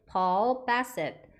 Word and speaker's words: Paul Bassett: 그래서 우리는 폴 바셋 한국말로는 이렇게 부르는데 Paul Bassett, Paul Bassett 영어식 발음으로는 이렇게 하시면 됩니다.